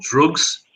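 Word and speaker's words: drukqs: um his album called drugs which is spelled with a a d and has a q and a u in it it's like actually really called D drus or yeah um what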